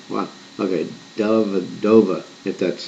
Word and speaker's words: Dellavedova: lot of things of that name what okay Dellavedova it that's how you pronounce it so McConnell Jones and Dellavedova now